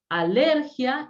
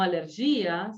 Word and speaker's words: alergia: Por ejemplo, policía, alergia, magia y no magía, alergia y no alergía, ¿sí? Policía y no policia.